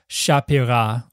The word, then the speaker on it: Sapphira: It's just like Sapphira. So much nicer to my ear. But that comes from an Aramaic name, Shapira, where the P is definitely a hard P because it's doubled.